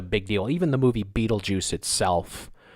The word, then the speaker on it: Betelgeuse: and the sky Betelgeuse which yes is pronounced Betelgeuse has been dimming more